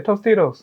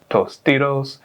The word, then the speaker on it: Tostitos: how you use it it is how you say tostitos say it like a human i mean like an american so now mexican people